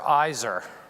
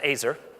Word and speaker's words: Aizer: called me back and he said mister Iser which was a bad sign because my last name is pronounced acer so the conversation wasn't